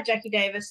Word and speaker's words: Jacqui Davis: right or did I totally butcher it no Jackie Davis is right no you're good uh beautiful because